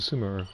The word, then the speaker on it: Sumeru: later all right trying to go back to sumer or sumero depending on how you pronounce it what well